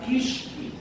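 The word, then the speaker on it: keiskei: Ang pangalan po ay Ashitaba or ang kanyang scientific species name ay Angelica kishki. Sabihin sa kalabi mo, kishki. Kishki. Ayan po yung pronunciation yun, ang kishki.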